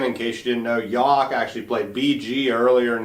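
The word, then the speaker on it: Yough: six Champion are playing yawk and I said that right correct yeah you did yeah cougars even though it's spelled y-o-u-g-h which Daniel I imagine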